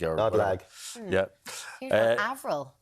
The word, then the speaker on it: Avril: Here's one, Avril, pronounced as, people are saying they don't get Avril right. I thought Avril was quite universal. No, I know somebody who pronounced Avril as April.